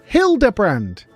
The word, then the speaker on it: Hildibrand: It's pronounced Hilderbrand.